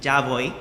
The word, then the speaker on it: ya voy: The point is, I said it wrong, and Maria corrected me, and then after that, I started saying it the correct way, which is ya voy.